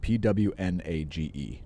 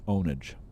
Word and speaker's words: pwnage: it before it's spelled p-w-n-a-g-e do not say pwn it is not pwn eugene like i is a gamer so it's not pwnage it's ownage and um there are